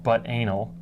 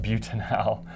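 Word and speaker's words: butanal: butanol in a phonetic way this is not pronounced but Anil but it's pronounced butan hell it's kind of a funny named compound but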